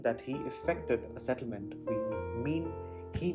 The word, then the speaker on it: affect: in its noun form effect is almost never used outside of psychology also when used as a noun its pronunciation changes to affect rather than effect so actually the previous